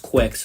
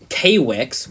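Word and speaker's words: Kwics: c s huh quick you still pronounce it quick I mean some re like silly person silly people z uh where would say kwix for some reason even though there's no dash in between the K and WS kwix it's obviously it's quite obviously pronounced quick yeah like even when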